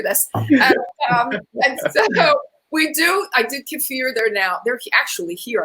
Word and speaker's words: kefir: Yeah, I do, but I always pronounce it kefir. Maybe I'm the okay. I looked it up. It's okay. It's kefir, but that's okay.